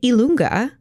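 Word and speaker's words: i lunga: did the alphabet and elunga is how you say the letter J in Italian so you're about to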